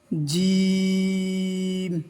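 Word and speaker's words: جيم: থা সা জিম। এই হরফটি 4 আলিফ টান দিয়ে পড়তে হবে এবং জিহ্বার মধ্যভাগ উপরে গিয়ে লাগবে এবং শক্ত আওয়াজ হবে।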